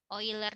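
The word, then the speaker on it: Euler: oil leur dan lulur ya boiler bacanya oil er dan sebagainya nah ini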